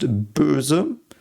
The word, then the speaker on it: Böse: So this is pronounced Böse.